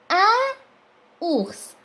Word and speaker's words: un ours: Un ours. نعمل الليزون ربط الكلمة. Un ours.